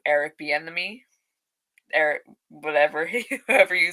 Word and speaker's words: Bieniemy: I actually didn't realize that, forgive me if I say his name wrong, Eric Bieniemy, Eric, whoever you say his second name.